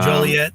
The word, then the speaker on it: Joliet: at the forge in in was it called Juliet Juliet how to pronounce it yeah oh Joliet yeah oh yeah yeah made of The Blues